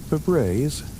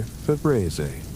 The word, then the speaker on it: Febreze: But it's F-E-B-R-E-Z-E, with only one E, a spelling that violates the phonetic expectation our brains have when encountering a word that sounds like breeze. The psychological mechanism involves phonetic spelling expectations. we hear Febreze pronounced.